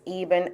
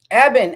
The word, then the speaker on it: Ebbon: And and you pronounce it uh Eban. Eban Eban.